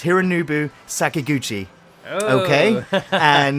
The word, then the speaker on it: Hironobu Sakaguchi: pronounce it. I think it's Hironobu Sakaguchi.